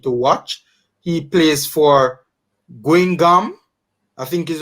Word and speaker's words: Guingamp: He plays for Guingamp, I think is how you pronounce it, in the French second division, League 2.